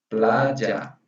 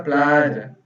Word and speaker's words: playa: Mas na Argentina, Uruguai e Paraguai seria playa. Na playa. Então, se eu hablo playa, ¿está correto? Sim, tá certo. Ah, Tá bem. certo. Mesma coisa, se você dizer playa, também está correto.